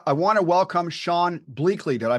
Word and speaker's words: Bleakley: Uh, I want to welcome Sean Blakeley. Did I pronounce that right, Sean? Uh, Blakeley. Long a Blakeley.